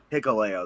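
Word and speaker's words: Hikuleo: Is it Hicleo? Hicoleo.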